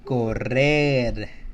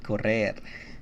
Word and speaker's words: correr: There's two R's and then there's a single R. Correr. Correr. See, we have the hard sound at the beginning and we have a soft sound at the end.